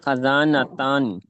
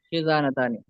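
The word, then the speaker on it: خِزانة: ہاتانی خزانتانی. خا کے نیچے کسرہ ہے، خزانتانی.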